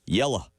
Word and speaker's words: yellow: More appropriately pronounced, yella.